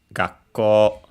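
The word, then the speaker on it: がっこう: For example, in the word gako low, high the rest high because it's unacented co. Yes. So the small two doubles the following k of co and you can uh try to pronounce this as if uh uh you wanted to uh you start the c but keep it for uh keep it and then release it.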